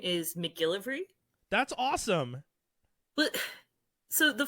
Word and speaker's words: MacGillivray: And what's wild is my name is pronounced exactly as it's written. Like, there's no tricks, there's no hidden, anything. you But anyone looks at MacGillivray and they go, what the MacGillivray.